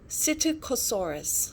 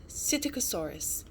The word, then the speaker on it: Psittacosaurus: the lost egg cytokosaurus so that's how you pronounce um this dinosaur's name cyticosaurus and then there's gonna be three other characters